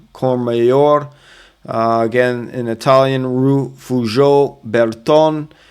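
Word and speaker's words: Courmayeur: This one is actually Cormayor, not Mayor. Cormayor.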